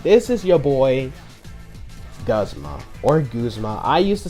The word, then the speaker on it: Guzma: me because, you know, it's Guzma, not Guzma, you idiot.